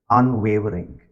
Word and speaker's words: unwavering: by the way the most difficult word to pronounce amongst these four highlighted words is unwavering where do you think the stress is unwavering unwavering it's the first Sy unwavering love unwavering